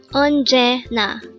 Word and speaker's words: 언제나: word number 353 Ona this is pronounced as a three syllable word the first syllable is